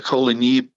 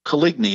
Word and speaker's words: Coligny: gaspard de kolini and the kolini french pronunciation equates to coligny in english and he was the